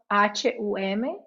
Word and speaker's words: hum: So hum, H-U-M, hum, que en inglés se pronuncia la H, eso suena como J.